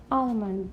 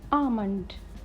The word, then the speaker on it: almond: Many people say almond. That is the wrong word. The right word is almond.